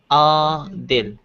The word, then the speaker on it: Adil: The pronunciation is Adil.